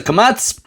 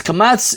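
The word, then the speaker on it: קָמַץ: commets okay mats this is known as a kamats and this kamats is a long ah sound so schwa I'm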